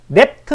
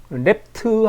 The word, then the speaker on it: REPT: R R이 PT 랩트 함수라고 저는 발음을 하는데 그렇게 발음 안 하고 멋지게 하는 분도 계십니다.